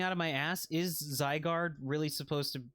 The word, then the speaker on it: Zygarde: I was trying to explain, because some, you know, I believe Zygarde, I would pronounce that Pokemon's name Zygarde, right? Because it's Zygote plus Guard.